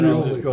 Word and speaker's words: Andreoli: Andreoli. I do that all the time. Coach Coach Jack- Andreoli. Nick- Yeah, I know. Four-syllable Italian name.